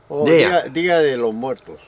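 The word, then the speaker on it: Día de los Muertos: Dio de los Muertos. Dia de los Muertos.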